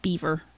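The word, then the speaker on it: Biewer: my dog's uh are spelled b i e w r and it's pronounced Beaver so all right uh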